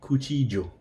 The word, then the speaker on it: cuchillo: El cuchillo, the knife. Cuchillo. Or it could be cuchillo with a j sound for double L.